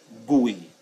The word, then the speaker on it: GUI: That is referred to as the GUI, pronounced GUI.